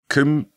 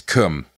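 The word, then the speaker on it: Combe: Taunton to come sing Come comes at Nicholas it's spelled c-o-m-b-e but I think it's pronounced come hmm or come that's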